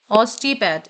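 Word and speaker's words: osteopath: अब देखिए यह वर्ड्स को प्रोनाउंस करना है। Psychologist, psycho analyst, ortho ऑर्थोडेंट डोंटिस्ट, optometrist, optician, ऑस्टिपैथ। इसे हम ऑस्टियो नहीं पढ़ेंगे।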